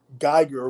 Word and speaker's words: Geiger: But I've always known it to be pronounced Geiger with an EI, which from what I understand from some of the German pronunciation, EI is pronounced with a long I.